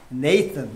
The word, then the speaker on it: 나단: 이 여호와가 주었다 이런 말인데 여기서 나단이란 말 주었다 이런 말인데 네이튼 이렇게도 뭐 영어로 발음을 하는데 자 선지자가 이렇게 처음 나왔어요.